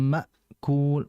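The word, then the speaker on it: مأكول: Ya, faja'alahum ka'asfim ma'kul, ma'kul. Cuman yang harus diperhatikan oleh kita adalah jangan seperti ain. Jangan ma'kul. Jadi kayak ain, jangan. Jadi itu tuh kayak ma, seperti itu saja.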